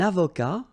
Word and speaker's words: avocat: Un avocat, so remember, liaison here and then final T not pronounced, okay?